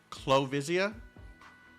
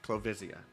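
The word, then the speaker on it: Clovisia: Island I've been looking forward to your arrival clesia clavia clavia pronunciation please the commander of londinium citizens self Ser salvation corpse clo visia okay clo visia thank you you never know with names from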